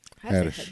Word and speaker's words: Haddish: Haddish. Haddish. I always had an extra syllable.